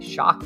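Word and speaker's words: Shough: I think I pronounced it like shock or shuck around here. Show is not a pronunciation I've heard. Um, it does sound like it is uh it is Shock. That is that is the leader in the clubhouse here.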